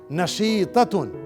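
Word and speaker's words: نشيطة: नशीततुन, नशीतुन, नशीततुन, नशीततुन. नून के ऊपर फतहा, शीन के नीचे कसरा, या के ऊपर सुकून. नशी, ता के ऊपर फतहा. नशीता, राउंड ता के ऊपर तनवीन. नशीततुन.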